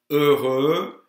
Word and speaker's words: heureux: Heureux is, the X isn't pronounced.